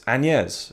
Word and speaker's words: Agnès: Anyway, right, so The Beaches of Agnès, actually, one thing I should say is her name, Agnès Varda, right? That should be how you pronounce it. And I always thought, you know, from the get-go, Agnès Varda, right? That's her name. But I've seen quite a few of her films now, and whenever her name is said in a documentary, someone's calling her, it's Agnès, you know?